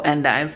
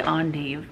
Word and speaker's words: endive: and dive and dive so endive i don't know why i was wanting to say on dave do they say that